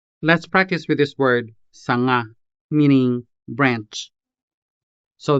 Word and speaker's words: sanga: Let's practice with this word sanga, meaning branch. So this Hiligaynon consonant sound is pretty much like the ng in English. Just like the ng in the words sing, hang, and long.